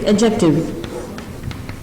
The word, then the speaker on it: adjective: D is silent. It's adjective.